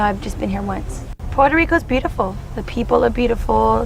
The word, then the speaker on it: Puerto Rico: And I think the correct way to say it is Puerto Rico.